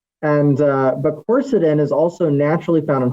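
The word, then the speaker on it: quercetin: So the the very first thing that almost any naturopath will will say for allergies is something called corsetin. And uh corsetin is a supplement that you can get in capsules.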